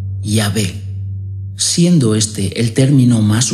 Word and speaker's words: Yahvé: Así se dio lugar al término Yahweh, que en su castellanización pasó a pronunciarse Yahvé, siendo este el término más usado en la doctrina católica.